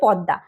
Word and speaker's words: পদ্মা: P eddy M এ পদ্মা যাকে আমরা উচ্চারণ করার সময় বলি পদ্দা পদ্মা একটি বড় নদী